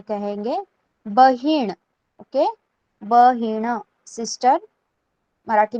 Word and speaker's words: बहीण: Now sister, sister जिसे बहन कहा जाता है हिंदी में, हम उसे मराठी में कहेंगे बहीण. ओके, बहीण, सिस्टर मराठी में कहा जाता है बहीण.